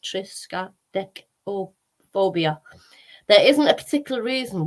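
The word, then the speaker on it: triskaidekaphobia: and it is a Greek for 13 pronounced triska dick or phobia there isn't a particular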